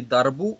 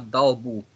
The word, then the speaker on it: Дарбу: Иногда говорите не «дарбу», а «далбу». «Далбу» — это чуть-чуть другое слово.